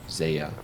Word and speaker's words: Zeah: But Zeah, he was asking about Zeah in specific, I believe, is Zeah. yeah. Yeah. That's how we pronounce it, and of course, people